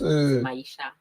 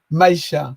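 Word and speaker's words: Maicha: C'est un simple I, Oui. mais même si on prononce Maïcha. Maïcha.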